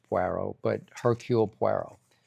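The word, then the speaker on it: Poirot: And then we we love what's pronounced. She calls Pero. It's Puero.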